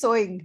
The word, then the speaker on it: sewing: Okay, so that is the correct pronunciation of this word. And this is sewing, right?